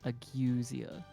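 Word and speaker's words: ageusia: It's actually pronounced agwesia.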